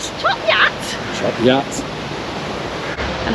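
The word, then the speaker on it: Chop Gate: that's another easy one ch gate it's actually chop yat chop yat chop yat and how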